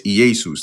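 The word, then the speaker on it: Ἰησοῦς: It's Iesus. That's how you pronounce it in Greek.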